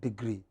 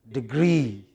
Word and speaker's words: degree: studying for dual degree it is not degree but degree what is it stress on the second syllable what is it again